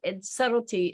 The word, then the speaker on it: subtle: And subtlety, and it's subtlety, subtle is spelled really strangely. It's S-U-B-T-L-E, subtle.